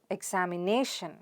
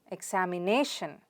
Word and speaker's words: examination: on the nerve sound so how do you pronounce it examination examination stress on the nerve sound there repeat it after me examination good now the fourth word is memorial so